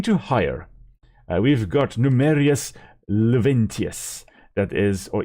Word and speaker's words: Juventius: We've got Numerius Luventius, that is, or Juventius. That'll be the I, and as far as I know, in many of these Latin languages, the I there could also be pronounced kind of like a J.